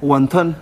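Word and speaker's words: wantán: Guantán, en chino. Ah, guantán. Sí. Es como una O-A, guantán.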